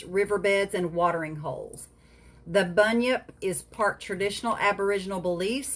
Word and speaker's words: Bunyip: You want to talk about the Bunyip? Is that how it's pronounced?